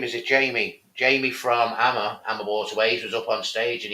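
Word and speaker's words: AmaWaterways: you said something, and maybe I've been doing it wrong all these years. probably. AMA waterways. AMA waterways. You've been Over saying here, AMA. We call it AMA waterways.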